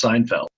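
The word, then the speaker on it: SNFLD: spelling of the SN f LD arrival is pronounced Seinfeld the stars on the board are locations of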